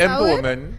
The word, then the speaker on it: EmpoWomen: Well, oh, yes, pronounced EmpoWomen.